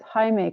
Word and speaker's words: Jaime: It's not Jamie Carlo, it's Jaime Carlo. Oh yeah. It's not Jamie? No. If the I comes before the E, it's the Spanish version. It's Jaime.